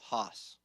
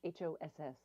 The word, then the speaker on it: Haas: Haas.